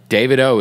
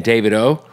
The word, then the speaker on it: Davido: and by the way David O is how you say his name oh yeah I say